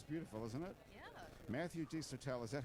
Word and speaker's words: Desotell: Matthew Desotell. Is that how I pronounce your name? That's how you just pronounce it. How do you pronounce it? Desotell. Desotell. Desotell. D-E-S-O-T-E-L-L. Yeah, it's pretty phonetic. It sounds French.